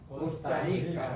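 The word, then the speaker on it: Costa Rica: 리까 고스타리카 코스타리카 코스타리까 코스타리카 제가 아까 말씀드렸죠 레하고 이하고 붙으면 발음하기 좀 어려워요.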